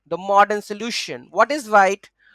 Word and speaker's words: Vite: What is Vite? Vite, pronounced as wheat, French for fast.